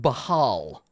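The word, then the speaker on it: Bhaal: So Whoa, it's Bane according was- according to the book, it's pronounced Bahal. Baal.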